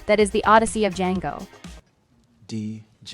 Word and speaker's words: Django: is the Odyssey of Django. D-J-A-N-G-O. The D is silent.